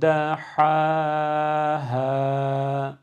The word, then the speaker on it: دحاها: Orada ha ile ha'yı telaffuz ederken aynı miktarda uzatıyoruz ikisini de. Hem de aynı fetha tonuyla uzatıyoruz. Ha'yı kalın okumuyoruz. Ha, he, yanlış bir ifade. De, ha, he, şeklinde ikisini de ince hem de aynı miktarda uzatarak okuyoruz.